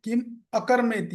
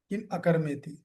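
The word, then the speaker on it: किमकर्मेति: पर एक शब्द है किम अकर्मेति ये अ जो है ये साइलेंट है किम अकर्मेति ठीक है तो आप देखो प्रपाद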